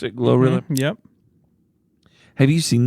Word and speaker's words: GloRilla: Is that how you pronounce it? GloRilla?